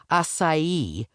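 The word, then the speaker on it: açaí: It's acai with a soft C and a stress on the last syllable.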